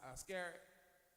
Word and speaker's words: Iscariot: How you pronounce his last name? Judas Iscariot.